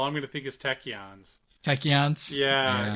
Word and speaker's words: tachyons: boy Rutherford oh what about him does he pronounce it techyons I noticed that I don't think you